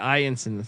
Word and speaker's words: Ianson: Yeah, Ianson. That's how you pronounce that.